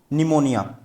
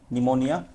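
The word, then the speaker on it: pneumonia: error दिए हुए हैं निमोनिया निमोनिया की जो स्पेलिंग होती है ये होती है पी एन ई यू एम ओ एन आई ए ठीक है तो इसमें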